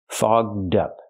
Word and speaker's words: fogged up: that's a bad word we have to use the open vowel all and the voice G and D fog dup to help with pronunciation link the D sound to the second word up so you have dup together fog dup her glasses